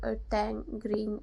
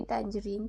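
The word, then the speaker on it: tangerine: तो मेरी दी ने वो वीडियो देखा और मुझे बोला कि ये टैंजरीन होता है। तो sorry, I miss pronounce that word. तो वो टैंजरीन होता है, ना कि टैंगरीन नहीं होता।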